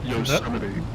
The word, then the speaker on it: Yosemite: We are doing Yosemite twins today, if I pronounced that right. Any Americans here to correct me? Wrong. Yosemite. That was close enough. That was Yosemite.